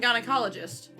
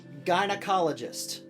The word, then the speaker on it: gynecologist: that oh an obstetrician gynecologist gynecologist is what you're saying right there are two g's in the word gynecologist one is pronounced g one is pronounced j that means it's all